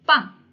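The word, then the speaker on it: bang: Okey, anda perlu tukarkan kepada huruf P waktu nak sebut. Okey, huruf P. Contoh perkataan pertama B A N G. Okey, B A N G. Dalam sebutan bahasa Mandrin disebut pang.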